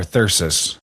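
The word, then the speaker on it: thyrsus: Well, I think I was saying it wrong, but it's thi thi when plural or thursus.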